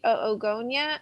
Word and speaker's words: oogonia: So we're going to be starting out with the oogonia as the stem cell. And my understanding is we do pronounce both o's.